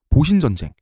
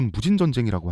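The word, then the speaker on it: 戊辰戦争: 그렇죠 그래서 내전이 발생합니다 보신 전쟁 우리 발음으로 무진 전쟁이라고 하는 신정 부분하고 막 부근의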